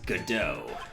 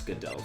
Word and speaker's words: Godot: the x-men Cyclops mask huh his name is Godot Godot yes I know how to pronounce Godot thank you people who had no faith in